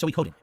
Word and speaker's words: Suikoden: It's going to be hard because I always said Sui instead of Soi. So I have to remember it's 4. It's not Suikoden 3 syllables, it's 4. It's Suikoden.